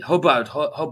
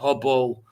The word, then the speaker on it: Hubbard: Yeah, Hubbard, not Hubble.